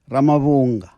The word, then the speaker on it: Ramavhunga: So Chris Ramavhunga, my technical producer, says, listen, Brew, you've just pronounced the man's name completely incorrectly. His name is Andisa Ramavhunga.